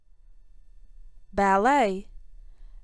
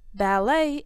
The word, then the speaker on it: ballet: Ballet. Ballet is a classical type of dance. It can be danced solo, in pairs, or in groups. The T in ballet is silent.